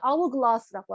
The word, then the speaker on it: hourglass: 모래시계 이제 영어에서는 hourglass라고 하거든요. 자, 이 hourglass도요. 자, 발음하니까 어때요? hourglass, hour. H 발음하나요? 안 하죠. 여러분 소위 말하는 그 묵음이라고 하는 H는 발음되지 않아요. 실제로는 hour. 모음 소리로 시작합니다.